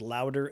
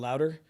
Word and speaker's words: Lowder: last name is pronounced louder l o wde r just yell louder uh you just gotta Google that okay so C designation.